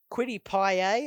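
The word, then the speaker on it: Kwity Paye: just the one game quitti quiddy pie i think is how you say it he's uh a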